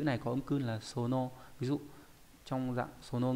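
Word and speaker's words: 園: Ví dụ Eden no Sono ấy là vườn của Eden, một nhân vật trong câu chuyện đúng không nhỉ?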